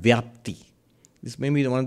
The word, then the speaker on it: vyapti: He brings in a term called vyapti.